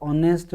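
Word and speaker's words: honest: इसको पढ़ेंगे ना तो ऑनेस्ट पढ़ेंगे, एंच जो है वो इनमें साइलेंट रहेगा, सब में जितने भी हैं यहाँ तक इनमें एंच साइलेंट रहेगा। एयर, एयरस, आर, ऑनर, इस तरह से हॉनर हम नहीं पढ़ेंगे, हावर नहीं पढ़ेंगे, इनमें हम एन का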